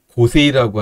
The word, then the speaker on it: 碁聖: 있는 거는 큰 기성 기세이라고 하는 거죠, 일본 발음으로. 그리고 이치리 기료 구단이 갖고 있는 기성은 고세이라고 하는 작은 기성전입니다.